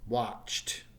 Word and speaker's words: watched: example base wherever's watch and the past tense is watched hopefully you can hear the T sound at the end there and the last sound